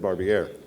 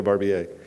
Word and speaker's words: Barbier: Isn't that how you say it, Barbier? I think yesterday I said Barbier. Yeah, Barbier.